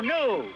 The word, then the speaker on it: gnu: then you're new too gnu is gnu new the g is silent there's one thing you've